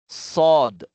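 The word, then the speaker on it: ص: Pero makapal siya i-pronounce 'no. Ibig sabihin makapal o mabigat. Sod.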